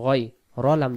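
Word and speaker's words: غَيْرِ: জবর গ আছে আছে এখানে গাইন জবর গা উচ্চারণ হইতেছে এখানে সজ মানে সঠিক যেটা হবে গন জবর গনি জবর গই র লাম রিল রিল রিল গাইরিল মাগদুবি মাগদুবি গাইরিল মাগদুবি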